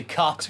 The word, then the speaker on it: Koch: Is it Koch? Koch, cock. Cock. It's a cock power tone.